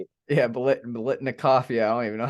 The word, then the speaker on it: Biletnikoff: called, the Beniglikov? I don't even know how to say it. Yeah, Biletnikoff.